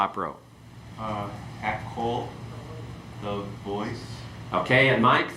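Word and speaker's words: הַקּוֹל: Okay, let's go through and pronounce these and then give the translation. Okay? Hamelech, the king. Hakol, the voice.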